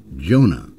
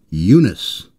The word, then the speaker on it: Yunus: that you don't hear his name is not pronounced Jonah it's pronounced Yunus that is why you